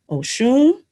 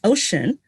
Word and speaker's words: Oshun: out by Hay House, there was a mispronunciation of Oshun, and I contacted the publisher, and I was told that they were told that the way it was said as Ocean was correct.